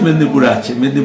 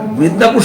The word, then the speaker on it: মেদিনীপুর: আমরা মেদিনীপুর শহরে তুমি দেখো না কেউ, আমরা মেদিনীপুর বলি যেটা বাংলা নামে, স্টেশনে গেলে ওটা হয়ে যায় মিদনাপুর। আবার কেউ কেউ ইংলিশে মেদিনীপুর হিসাবে লেখে, PORE লেখে, কেউ PUR লেখে।